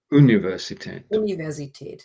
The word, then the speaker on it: Universität: You made the mistake of pronouncing one word in English because it's so close to English. Es 1558 wurde die Friedrich-Schiller-Universität Jena gegründet. Yeah. Universität.